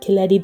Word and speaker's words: Koletti: So for those wondering what happened to Koletti that rhymes with spaghetti, as of mid-2025, he